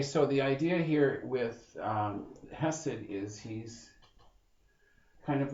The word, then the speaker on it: Chesed: Hesed, C-H-E-S-E-D, Hesed. I've seen it spelled without the C as well.